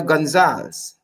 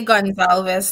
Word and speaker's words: Gonzalez: none other than Gonzalez ni am I pronouncing your surname correctly yes at least at least you didn't say Gonzales like the rest of the people here in this country they probably think you're